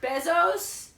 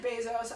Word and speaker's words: Bezos: something out of there how do you pronounce Bezos besos besos besos besos besos besos I know I don't say it out loud I never pronounce on Jeff I don't want people to know name anyway I pronounce it Bezos I also say economics Bezos and I think you're wrong Jeff Bezos published a